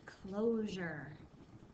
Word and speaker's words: closure: should look like this so we've got a long o here the O says its own name and then we've got that ending Jer it does not sound like sure it sounds like Jer but it spell